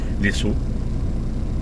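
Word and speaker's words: Lezo: Alors les saut L E Z O puisque ça s'écrit ça s'écrit comme ça et puis ça se prononce les saut.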